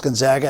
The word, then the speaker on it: Gonzaga: that people are starting to understand how to pronounce Gonzaga and we had three coaches in here mispronounce